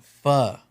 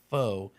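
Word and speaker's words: phở: And she said the pronoun the proper pronunciation is fa. She said the pronogra Is that what you were going to say? The proper pronunciation of pho is actually fa.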